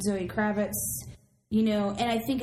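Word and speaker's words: Zoë Kravitz: of like a knockoff Zoe krabit discount Zoe krabit yes say it right there discount Zoe krabit just count Zoe Kravitz you know and I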